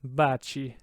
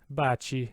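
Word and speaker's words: baci: right kane but the second word there bachi bachi because it's in front of i so it gets the soft chu sound bachi that third word there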